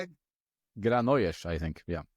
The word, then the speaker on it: Granollers: Granollers, I think, yeah. The double L is a J, right?